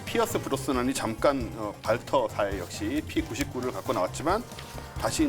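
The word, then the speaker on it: Walther: 007 총이랑 별 차이 저게 옛날에 조립식에서 어떻게 나왔냐면 영어식으로 읽었어요. 월터 P38 그 형태죠. 지금. 발터입니다. 발터. W를 그렇게 발음하니까 발터 독일 거구나.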